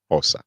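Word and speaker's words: Xhosa: to learn zulin OA actually I have to pronounce it with that click spelled with an X OA that's the uh that's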